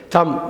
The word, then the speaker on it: thumb: THUMBனா தம்முன்னு படிக்கணும், அந்த B silent. தம், இந்த கட்டை விரல் இருக்குல்ல, தம்.